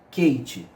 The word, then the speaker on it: Keiti: do gráfico quente tá Fiz se pronuncia Kate esse gráfico tá você